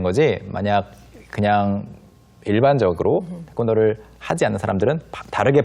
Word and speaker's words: 태권도: 태권도라고 발음을 한 거고.